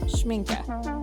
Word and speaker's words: Schmincke: after i did the schminke well hold on a minute how do you say this word okay i'm back it's schminka sorry my pronunciation of